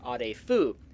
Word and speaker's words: Arefu: So if my Romanian pronunciation is okay, the proper pronunciation would be Arefu.